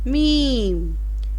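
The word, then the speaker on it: میم: Meem.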